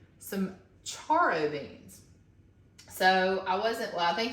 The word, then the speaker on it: charro: And then she also said some charro beans. So I think it's pronounced charro, C-H-A-R-R-O beans.